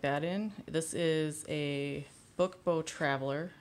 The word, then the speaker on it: Book Beau: This is a Book Beau Traveler. It's spelled B-E-A-U.